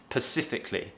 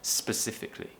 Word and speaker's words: specifically: Natives do this, and they might pronounce it as pacifically instead of specifically.